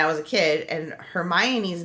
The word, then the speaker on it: Hermione: I feel like that's that like the way that Her- Hermione is spelled in my head I would have also read it as Hermoin.